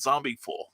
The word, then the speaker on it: zombiful: zombiful world of oz i should pronounce it zombie full because we get that e in there it's a great book